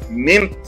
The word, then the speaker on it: Mynt: Napansin ko yung pangalan na MYNT, Mint. Tama pa pagka-pronounce ko, MYNT.